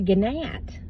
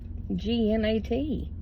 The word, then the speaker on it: gnat: Just like a ganat g n a t. I know it's gnat, but it's spelled ganat.